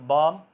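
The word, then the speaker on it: balm: करते हैं मरहम टाइप तो बम बा ल एम है मगर बोलने में बम है इस टाइम एफ के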